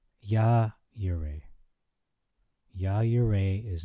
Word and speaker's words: Jehovah Jireh: Genesis 22 passage, specifically the Jehovah Jireh, as a lot of people pronounce, but it's actually, not trying to get into an argument, but Yah Yireh.